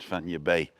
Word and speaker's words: Fañabé: And so it'll be Fanya, and then there's an accent on the E, which means that's where the push down is in the word, Fanya Bay, like San Francisco Bay, I suppose.